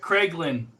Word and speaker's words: Kraglin: Craiglin. Kraglin.